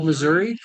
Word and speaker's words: Missouri: actually got pushed out he believes that it's pronounced Missour it's not Missour it's Missouri just we were just